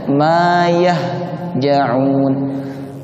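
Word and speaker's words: ما يهجعون: Nah, maka cara pengucapannya ma yahja'un. Napas dan suara dilepas dengan lembut.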